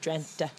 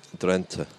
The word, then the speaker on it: Drenthe: And then a week later, we had the Ronde van Drenthe. Is that the correct pronunciation? I think it's like with a soft E in the end, Drenthe. Drenthe.